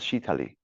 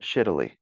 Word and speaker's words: shitali: It's called shitali. Yeah, not shittily. It's spelt like shittily, but it's shittily.